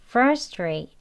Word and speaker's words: frustrate: 때 FR 하고 강하게 첫 번째 음조를 강하게 발음을 했다면 여기서는 강세를 많이 주진 않습니다 그냥 frustrate 하는데요 여기 차이점을 보시면요요 괄호 안에 보시면 아가